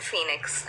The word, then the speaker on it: Fenix: Justice for Jayaraj and Phoenix, and that's spelled F-E-N-I-X.